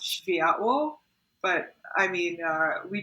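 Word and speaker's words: Światło: so spietlo is a polish word it's actually pronounced shivaya but i mean uh we just say sweatlo because our our major markets are india and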